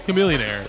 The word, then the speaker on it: Chamillionaire: It's Chamillionaire. It's Chamillionaire. The H is silent. Yeah, like a chameleon.